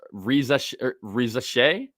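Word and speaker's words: Risacher: It's Riza Shea. I think it's Riza Shea. I saw an interview and looked up on Wikipedia.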